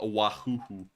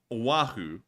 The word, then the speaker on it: Oahu: let's pull that up let's find it so Oahu or as Matthew likes to call it a wahoo um so here's a problem with that like